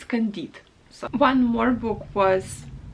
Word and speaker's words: Candide: i'm very sorry i don't know how to pronounce it so in russian it's candide so one more book was les miserables by